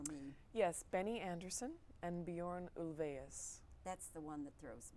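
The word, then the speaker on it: Björn Ulvaeus: me say it again Bjorn that may not be you know a perfectly Swedish pronunciation but it is ulva eus I believe with the little umlaut yes that's my best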